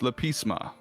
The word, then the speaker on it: lepisma: the name at least lepisma is that pronounced correctly yeah that's good okay lisma all right